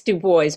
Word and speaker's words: Dubois: pronouncing your name correctly it's due boys but that's fine it's actually correct but anyway um so